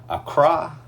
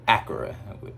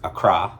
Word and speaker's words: Accra: visited ghana we visited accra ghana at first i was calling it because it's spelled accra we was calling it acura we we i was